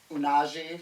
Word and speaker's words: Unagi: Number 5, the one with Unagi. Should I put on Unagi. Nagi. They say it 100 times in that And then, so I was episode. like, no, it's not a hard G.